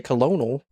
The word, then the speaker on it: colonel: Colonel comes from the Italian colonnello. The French added an R, coronel. The English took the Italian spelling, but the French pronunciation. Okay. That's why we say colonel.